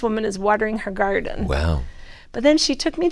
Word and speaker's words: Wau: You'll like this name, WOW. It's W-A-U, but it's said pronounced we like that. WOW.